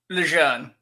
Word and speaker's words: Lejeune: Okay, so correct me on the name, like to correct us all, if you will, like give it phonetically. Lejeune? Lejeune.